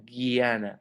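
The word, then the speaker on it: jñāna: alguna siguiente camino del guiana acuerden que se pronuncia como una G y a na a guiana entonces la palabra guiana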